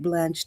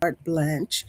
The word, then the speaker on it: carte blanche: doesn't give them carte blanche to your life. And sometimes here we say blanche, but according to my source, Miss Alexa, she said the correct pronunciation is a French word, carte blanche.